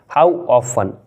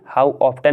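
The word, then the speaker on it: how often: समय लगता है नेक्स्ट हाउ ऑफें क्या बोलोगे हाउ ऑफ्टन नहीं बोलोगे इसे आप आप बोलोगे इसे हाउ ऑफ यानी कि टी साइलेंट रहेगा यानी कि कितनी बार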